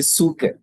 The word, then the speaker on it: psyche: Or the Greek pronunciation is actually suke.